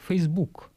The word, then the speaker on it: facebook: ряд вопросов ну во-первых как правильно произнести facebook с ударением на первый слог или все-таки учитывая что в английском языке ударения все-таки ставятся на первый слог facebook или на второй слог facebook здесь мы ставим ударение на 2 фонетический слух facebook по аналогии со словом ноутбук который построен по той